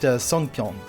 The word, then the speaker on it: songpyeon: And then I believe pronounced songpyeon, which is a rice cake for the Korean Thanksgiving Day.